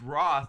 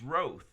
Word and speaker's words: Roth: If it was it's Roth, which you would think was pronounced Roth, but it's not. It's Roth.